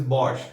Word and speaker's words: Bosch: SCH is actually sh sound, so it is Bosch.